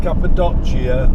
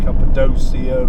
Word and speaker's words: Cappadocia: airport, because we're heading to a place called Cappadocia, or Cappadocia as some people I think pronounce it.